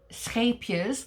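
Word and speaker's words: Scheepjes: uh from the um scapias that's the correct way to pronounce it scapia's uh katona uh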